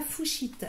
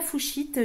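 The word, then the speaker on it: fuchsite: Ensuite, j'ai la fouchite.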